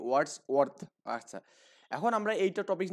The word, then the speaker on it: Wordsworth: আর্থ, মানে দুটো একসাথে তো এই জন্য একটু উচ্চারণের সমস্যা হবে। ওয়ার্ডস ওয়ার্ডস ওয়ার্থ, ওকে? ওয়ার্ডস ওয়ার্থ।